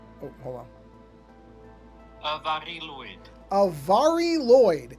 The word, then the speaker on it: Mari Lwyd: Mari Lwyd is how that is supposed to be pronounced.